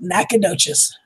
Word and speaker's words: Nacogdoches: Pronounce it Nacogdoches. Sounds like a nut or something. French. Yeah, it sounds French.